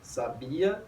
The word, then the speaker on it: sabia: Sábia, sabia e sabiá. E a diferença é o mero acento agudo, ou seja, é a posição da sílaba tônica.